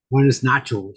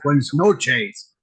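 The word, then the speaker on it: buenas noches: Buenos nachos. I don't even say it right. I had a guy that he always goes, Scotty, no, it's buenos noches.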